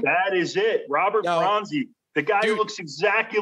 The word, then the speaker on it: Robert Bronzi: Robert Bronzi.